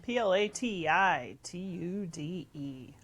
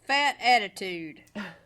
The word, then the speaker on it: platitude: All right, it's spelled Platitude. It's a fat attitude.